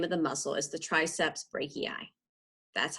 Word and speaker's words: triceps brachii: the full name of the muscle is the triceps brachii that's how you pronounce that it has a partner on the